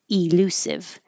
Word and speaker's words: elusive: And we started with elude and elusive, which you can also pronounce with the e. So some people will say elude. Elusive. But because the e is not stressed, it can change to uh or i.